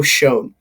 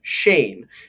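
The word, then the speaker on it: Schoen: this is funny story i pronounced his name joe shone and when i did that i got a comment and it just said shane and i clicked on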